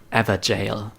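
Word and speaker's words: Evergaol: look that up g-a-o-l is an Old English word which means jail and it's pronounced in a similar way more like ever jail so a free translation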